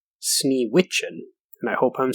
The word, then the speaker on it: Sneewittchen: So the Grimm fairy tale, number 53, or as it's more commonly known, Snow White, was originally pronounced Sneewittchen, and I hope I'm saying that correctly.